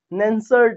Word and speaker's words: Nernst: एक सिंपल सा फॉर्मूला, जिसको बोलते हैं नर्ट्स इक्वेशन, हिंदी बोलते हैं नेंसर्ट इक्वेशन, जो भी प्रोनाउंसिएशन अपने हिसाब से अलग अलग है हिंदी का इंग्लिश का।